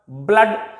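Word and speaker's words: blood: कहते हैं, हट, शट, ब्लड। ये बेशक डबल ओ, ओ है, लेकिन यहां से जो साउंड निकल कर आती है वो है यही साउंड, अ साउंड।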